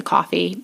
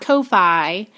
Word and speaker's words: Ko-fi: says buy us a coffee and it takes you to a website called coffee not kofi even though it's spelled k-o-f-i um i will redirect